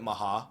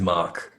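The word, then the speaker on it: Mhach: Um I think I think it is I think it is mock. It is mock. Cooji. Somebody asked Koji at uh at East and he said yes. It's Mach.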